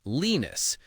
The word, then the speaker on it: Linus: The guy who created it, his name is Linus, and he pronounces it Linus, so he calls his invention Linux.